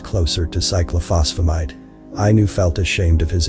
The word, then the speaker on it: cyclophosphamide: Cyclophosphamide, he said, nervous. Close, the 2-legged one said. The 2 characters here, when together, sound like F, and that one at the end there alters the sound.